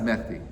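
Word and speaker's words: Mahdi: It's pronounced Mehdi, right?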